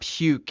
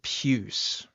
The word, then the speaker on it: puce: It's not puke, it's puce.